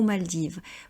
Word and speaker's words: Maldives: rêve de voyager aux Maldives. Vous voyez, on ne prononce toujours pas le S qui est la marque du pluriel et le S n'est pas prononcé en français.